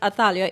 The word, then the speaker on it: Athaliah: So you could just say at Athalia, ATHALIAH. Yes, there's a H at the end, because everybody, even if I spell it for them, get that wrong.